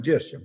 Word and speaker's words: yeso: eso se llama el yeso yeso famoso que en estados unidos llaman yeso porque ellos no tienen la y entonces no tiene más remedio que pronunciarlo con la g pero es el yeso